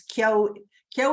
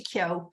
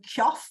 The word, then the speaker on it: Keogh: good in a book, except people can't pronounce it. In the UK, I get all kinds of Keough and Kieff and all kinds of strange pronunciations.